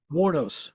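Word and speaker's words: Wuornos: Eileen, how do you pronounce her last name? Eileen. Warnos.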